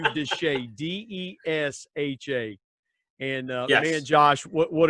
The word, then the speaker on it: Desha: Desha, Desha.